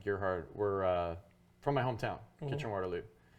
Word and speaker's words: Gerhard: So the thing with Cerberus is Dave Sim and I think his name you pronounce his last name Gerhard were from my hometown, Kitchener-Waterloo, and Gerhard's wife